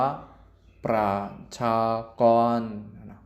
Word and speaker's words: ประชากร: นั่ง ตัว ละคร ประชากร ประชากร อ่าน ว่า ปราด ชา กร ตัว เตียง อยู่ ใน